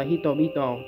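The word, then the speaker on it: 人々: sau nó là chữ kuri kaisi thì nó đọc là hitobito.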